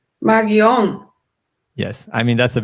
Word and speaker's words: Marion: In German, we have the name here Marion, but on and ion is a common ending, and we will really pronounce it as O and not as A.